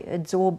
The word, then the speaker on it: adsorb: because of what they adsorb onto their surfaces. Now, I didn't mispronounce absorb then. The word is adsorb when it's on the surface.